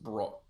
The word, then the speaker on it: Brock: Roblen space DEC space BROKE, and the last name is pronounced Brock.